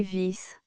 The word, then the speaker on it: vis: Avis, P une vis. Prononcer vis.